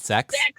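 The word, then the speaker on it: secs: is dot s-e-c-s so it's pronounced dot sex yeah and so everyone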